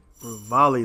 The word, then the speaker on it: Revali: Revali is how you say his name.